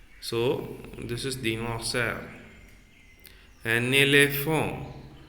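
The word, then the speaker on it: éléphant: An elephant. So T, totally I have removed T while I pronounce elephant. A, le, that P plus A, pa plus A, pon. Elephant. That will become elephant.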